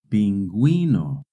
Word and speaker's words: pingüino: In Spanish, when a word has GUE or GUI, the U is silent. But if the U has a diéresis, then you do pronounce the U.